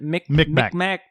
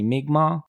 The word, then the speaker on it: Mi'kmaq: Micmac. Yeah, Micmac Cemetery, to be clear. At least that's how they pronounce it in the film. Yeah. It's true. I researched the pronunciation. It's supposedly supposed to be Mi'kmaq.